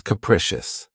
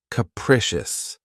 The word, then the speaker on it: capricious: of my favorites is capricious this word has three syllables and the stress is on the second syllable keep in mind that the first syllable has that schah sound K precious capricious if someone or something is